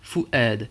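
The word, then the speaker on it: فؤاد: Fu'ad, on a une hamza avec un a, puisque derrière on a un alif. Eh bien on prononcera fu'ad.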